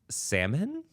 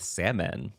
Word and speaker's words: Salmon: marries a man named salmon Salomon I truly have zero idea from the pronunciation of this it's uh capital s a l m o n which in my mind reads as salmon but who knows I